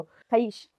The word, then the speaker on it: खबीस: हमने सुना अभी लेटली, खबीस, कि वो जिन का बच्चा होता है। आप उसको किसी और तरीके से प्रोनाउंस करते हो? खईश। खईश।